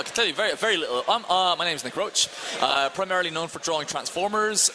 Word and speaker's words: Roche: But it's pronounced like the cock, Roche.